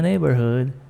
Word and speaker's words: neighborhood: Trouble in my neighborhood. Trouble in my neighborhood. Sempre o GH eu não pronuncio, então pula aí, ó.